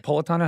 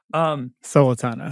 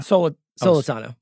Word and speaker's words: Solitano: Is it Politano? How do you say it? Solitano. Solitano. Solitano. Like So like soul.